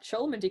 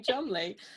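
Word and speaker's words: Cholmondeley: troll mundy and he'll be like oh that chol mindy guy sounds real fishy not like me yeah you're chummy chumley it's a good point because i don't know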